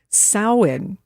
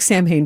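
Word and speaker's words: Samhain: Well, Sam Hayne is used to be the name of a punk band, but how you say it actually is sin. So, it looks like Sam Hayne, but it's sin.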